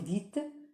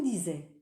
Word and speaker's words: dites: petite remarque attention attention il faut dire vous dites et surtout pas vous disais ah quelle personne verdir